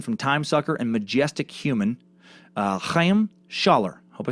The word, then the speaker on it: Chaim: Chaim Weitzman's first name and mine is pronounced Chaim, with a sort of throat-clearing sound at the beginning.